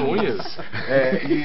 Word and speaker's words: Núñez: Monumental de quê? Repita. Monumental de Núñez. Pô, pronúncia bem portenha mesmo.